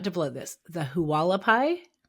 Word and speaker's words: Hualapai: The Halapai. Yep. Walapai.